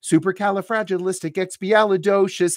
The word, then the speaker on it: supercalifragilisticexpialidocious: Can you pronounce supercalifragilisticexpialidocious?